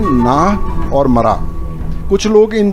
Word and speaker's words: Mra: तो ये है, एक है नाह NAH, दूसरा है मरा MRA। उसको मारा भी बोलता है but it is pronounced as मरा, but when you write it in English it is usually MARA।